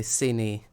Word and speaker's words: Cine: Oh yeah, never mind, it's most likely Cine, like Vinny.